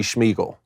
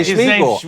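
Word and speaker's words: Smigiel: class fourstar quarterback Brady schmeel I can't I got to say schmeel I don't know any other way to pronounce it here it is s m i g i e l schmeel it's it's precious how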